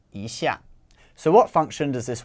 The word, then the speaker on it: 一下: when you're counting but when it precedes a word that's a fourth tone it changes to a second tone so it's isha so what function does